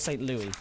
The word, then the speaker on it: St. Louis: The Spirit of St. Louis, or St. Louis, as it's pronounced, but I liked it as Lewis because that's my name, Edward Lewis.